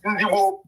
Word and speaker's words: Igbo: Whereby our original pronunciation of our name is Igbo.